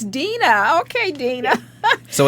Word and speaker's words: Deana: Is it Deana or Deanna? Deana. Oh, we've been saying Deanna the whole time. Deana, I apologize to you. It's okay. I've been saying Deanna, and it's Deana.